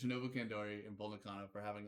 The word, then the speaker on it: Kandori: Shout out to fucking Bull Nakano and Shinobu Kandoru because they fucking sorry, I'm fucking Kandoru. I mean, sorry, we're getting the File Under Fire versus Wheelie Good podcast pronunciation challenge here.